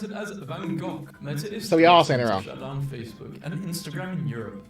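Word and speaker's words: Van Gogh: Americans saying Van Go is pronounced Van Go. British saying it's pronounced Van Go. It's a Dutch name and Dutch pronounce it as Vangok shut down Facebook and Instagram in Europe.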